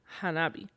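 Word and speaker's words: 花火: probably the F the word firework in Japanese is pronounced Hanabi which actually means fireflow you would like that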